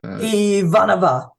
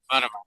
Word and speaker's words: Ivanova: But okay, and we're still getting feedback that we don't know how to pronounce Ivanova's last name, and Ivanova. I'm getting it now. Ivanova, yes.